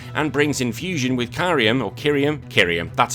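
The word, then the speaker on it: Kyurem: Look, here the big thing is that Pokemon decides to steal from the Digimon pot and brings in fusion with Kyrium, that's how you pronounce it, with Kyrium White or Kyrium Black.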